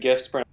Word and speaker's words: GIF: just because the guy that created GIFs... Wait, what did you say? Just because the guy that created GIFs pronounces it wrong, you have to.